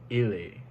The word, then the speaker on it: il est: It's the same thing about the endings. The A is silent. Now tu es and il est, even though the A is spelled differently, it sounds the same. And that's only because the letters are silent.